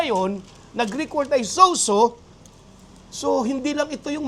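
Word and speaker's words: σῴζω: Yung pong saved na yon, makikita niyo po dyan sa screen, ang Greek word po nun ay sozo. Okay? S-O-Z-O. Sozo. Ang bigkas po nun.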